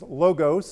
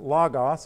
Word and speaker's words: logos: Well, behind it, it's a Greek word that some people think is logos and others pronounce it logos, and it depends on what kind of Greek you took, what your professor told you to say it like. And so I say logos.